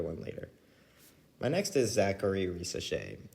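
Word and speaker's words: Zaccharie Risacher: My next is Zachary Risacher. That is how you pronounce his name.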